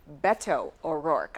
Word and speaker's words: Beto O'Rourke: The campaign trail is going through Sioux City this week, and this evening we welcome Democratic presidential candidate Beto O'Rourke. I heard you pronounce it.